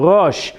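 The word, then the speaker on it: ראש: Rosh. Rosh is yes, correct. Excellent. Beautiful. Rosh. What is silent in that word? The Aleph.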